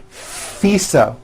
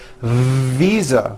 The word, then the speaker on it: visa: her international fisa correct no i said fisa with an unvoiced f i should have said visa with a voiced v living i am living